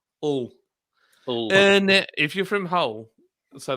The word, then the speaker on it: Hull: Yeah, we don't pronounce the H. It's like all.